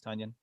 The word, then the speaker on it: Tonyan: We have Robert Tonyan, who apparently, you would say his name wrong, Mo, just so you know, it's not Tanyan, it's Tunyon.